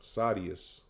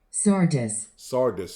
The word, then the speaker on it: Sardis: Let me make sure I pronounce it. Sadius. Sardis.